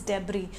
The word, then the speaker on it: debris: we call it debris we are is the pronunciation is debris so just Jessie hamari natural disaster kibbutz of